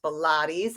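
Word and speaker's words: PHILAYTS: y t s pronounced pilates i say it's like pilates for strengthening your caregiver core so and it's interesting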